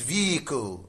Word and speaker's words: vehicle: This is vehicle, vehicle. It does not have H in the pronunciation.